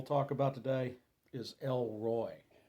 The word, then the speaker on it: Roi: The last name we'll talk about today is El Roi. That Roy is spelled R-O-I out of the Old Testament, meaning the strong one who sees.